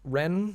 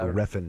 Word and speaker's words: Refn: Ren. It's Nicholas Ren, I think. Something. So Oh. it's like a one syllable last name, I think. But It is Nicholas Winding Ren. yeah, Refn.